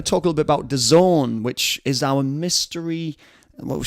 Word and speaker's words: DAZN: bit more on Dazn, pronounced Dazn, spelled capital Dazn.